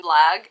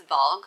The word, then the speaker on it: Valg: I'm pretty sure I was saying Blag and it's Valg.